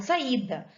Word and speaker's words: saída: Eu não falo saída, nem saída, eu falo saída. A sílaba tônica tá no i.